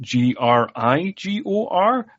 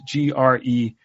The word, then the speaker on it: Gregor: credits like how is it spelled is it g-r-i-g-o-r and everybody on the English side is pronouncing it wrong or g-e-r-g-o-r um it turns out it is g-r-e-g-o-r-3 is a Gregor not a grigor but um